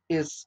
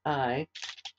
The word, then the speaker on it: Ai: Haron Haron died um and but uh lot is is haran's son but he goes with Abram